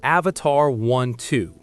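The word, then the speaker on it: Avatr 12: Coming in at number four is the Avatar 12. And yes, you heard me right. is pronounced Avatar12.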